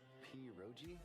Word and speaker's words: pierogi: Pierogi? Did I pronounce that right?